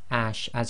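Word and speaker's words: اَصْ: So we've put here the sod, and when you pronounce this, it's going to be as. So it's like the seen as in as, but you've got to make it the thick version.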